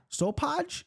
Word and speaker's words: Sopaj: Sopaj is how you say this.